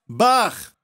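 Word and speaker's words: בר: Bet e Resh combinadas se pronuncia bar, que é filho em aramaico.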